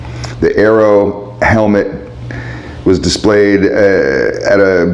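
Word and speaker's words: Airoh: by an Italian company called Arrow it's spelled funny it's a i r o h the Aero helmet was displayed at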